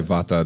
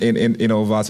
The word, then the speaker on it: Vata: She goes by Vata, though. Yes. The T pronounced. You gotta enunciate the T. Right. If I say Vata, that's not gonna do it. It's Vata. It's Vata.